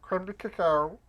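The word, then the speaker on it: crème de cacao: You want to get about 1.5 ounces of really good cognac, a 1/4 ounce of creme de cacao, that's how it's pronounced.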